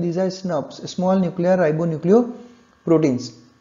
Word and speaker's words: snRNPs: Nuclear proteins, SNRNPs, और अगर आप इसको प्रोनाउंस करोगे तो आप इसको बोलते हो स्नप्स, यानी SNRNPs को अगर आप एक साथ बोलोगे तो क्या प्रोनाउंसिएशन निकलता है, स्नप्स।